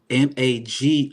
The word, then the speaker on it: magique: Magique, like mystique. Magique. Magique, like Q.